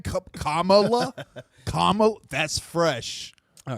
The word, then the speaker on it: Kamala: You say Camala. Oh. Oh, okay. How do you say her name? Yeah. How do you say her name? Kamala.